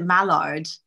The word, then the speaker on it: Mallard: I wanted to ask you specifically about, am I pronouncing it correctly? Is it Mallard?